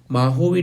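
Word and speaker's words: Mojave: It is pronounced as Mahovi desert, Sonaran desert in California.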